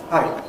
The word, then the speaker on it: hai: If we compare English hi and my best Japanese hai, what's the difference? Good! Glottal stop at the end in Japanese. Japanese, short vowel gets a glottal stop after it.